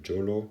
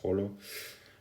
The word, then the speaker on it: Jolo: So the capital of uh Sulu is Holo or Jolo, but I think it's pronounced Holo.